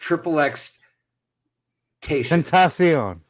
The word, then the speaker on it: XXXTentacion: ahead first of all his name is pronounced triple x tentacion I like the way